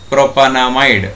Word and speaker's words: propanamide: So the pronunciation is propanamide.